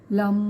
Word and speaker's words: लं: करो, फोकस करो अपना, और लम शब्द का उच्चारण करना है, लंबा लम, इस तरीके से आपको उच्चारण करना है।